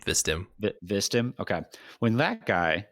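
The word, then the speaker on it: Vstim: Yeah, just put an I between the V and the S, and you've got his name, Vistim.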